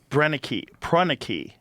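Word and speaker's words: Proenneke: Prreni, that's how you say his name.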